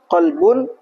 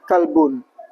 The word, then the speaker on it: qolbun: Kemudian mencegah kesalahan yang dapat mengubah makna. Misalnya tadi qolbun dibacanya kalbun.